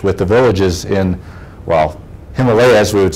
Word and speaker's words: Himalayas: do some research with the villages in, well, Himalayas, we would say here, Himalayas is how you pronounce it there.